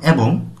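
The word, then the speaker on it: 의: মানে কোরিয়ান লোক উই যদি এই পার্টিকেলটি শব্দের শেষে আসে তাহলে এর উচ্চারণ হবে এ এর বাংলা অর্থ দাঁড়াবে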